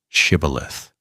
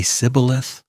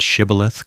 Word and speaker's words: shibboleth: The Ephraimites couldn't make the ish sound. They'd say Sibboleth, and every man who said it wrong was killed on the spot at the river's edge.